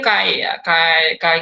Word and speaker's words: chi: disebut itu gimana ya si ini bacanya Kai kuadrat atau kali Square atau iya bolehlah gitu